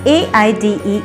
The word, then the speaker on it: aide: The one who helps someone, the one who assists someone is known as AIDE, aid. Both the words are pronounced alike. And the first example for this is, doctor's aid will provide you medicines on time.